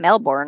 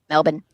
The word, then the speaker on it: Melbourne: I had no idea I'd go around saying Melbourne all the time and it's like nope melin there you go bris